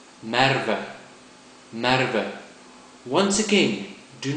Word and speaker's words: Merwe: but if you say me that would be wrong think of the sound that a sheep makes may may a more